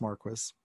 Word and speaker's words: Marquis: emeritus now and again his name is pronounced Marquess and he's going to